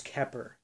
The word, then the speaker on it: Xeper: most elevated sphere is Keper, which means I come into being. While Keter, in the Hebrew tree of life just means being. Keper, or Xeper, pronounced Kep-er, is different from the Kether.